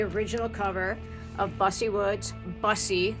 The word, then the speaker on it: Busse: cover of busy Woods busy like a bus not Bucy that's how you pronounce it everybody and actually uh my